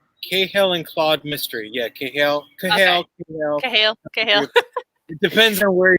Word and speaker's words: Cahill: And the Cahill, is that how you pronounce it? Yeah, the Cahill and Claude mystery. Yeah, Cahill.